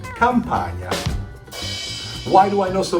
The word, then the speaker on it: Campagna: The GN sounds a little hard for America, but Italians pronounce it gnocchi. Just like you say lasagna, or my last name, Campagna.